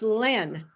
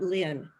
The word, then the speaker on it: Len: L-E-N, it's pronounced Len, not Lynn. It's Len.